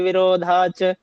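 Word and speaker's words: विरोधाच्च: सर ये जो विरोधाच है तो यहाँ पे सर एक ही न बोलेंगे, एक च साइलेंट हो जाएगा ना। आधा वृत्ति च और पूरा च है तो विरोधाच एक ही च की आएगी। आधा च और पूरा च है तो एक च की आवाज आएगी।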